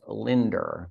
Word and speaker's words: Linda: It's Linda, T-A-R-R, pronounced Linder, because she's from somewhere in New York.